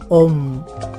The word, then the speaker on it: Om: En el hinduismo se pronuncia con la sílaba Om, O-M.